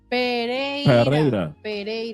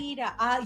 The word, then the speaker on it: Pereira: 2 R's in Pereira. Pereira. Yeah. I spell it P-E-R. I'm Colombia. Thank you. Thank you. You see, us foreigners got it right. Pereira.